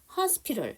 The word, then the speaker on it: hospital: 우리가 hospital 했을 땐 A가 묵음이에요.